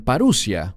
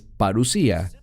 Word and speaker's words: parusía: y esta palabra recuerden es la palabra parusía algunos la pronuncian parussia pero es parusía simplemente es una palabra